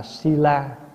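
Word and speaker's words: śīla: Giới tiếng Phạn đọc là sila, mình âm là thi la.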